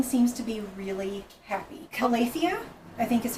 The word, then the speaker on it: Calathea: Calathea, I think is how Yes, it is. how you pronounce Calathea.